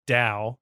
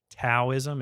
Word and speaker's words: Dao: follow my way or my Dao as we say it like you probably think it's pronounced taoism it's but we don't laugh